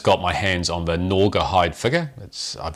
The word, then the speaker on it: Gnawgahyde: Joe yet, so I've just got my hands on the Gnawgahyde figure. I've been mispronouncing that all day as Norahide, and Lee's just been commenting we can forgive as Nora Jones.